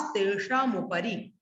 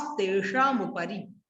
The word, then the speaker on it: तेषामुपरि: देखो पद्म, महापद्म, तिगिंच, केसरी, महापुंडरीक, पुंडरीका, हृदास तेषामुपरि। हृदास तेषामुपरि, हृदास तेषाम नहीं, हृदास तेषामुपरि।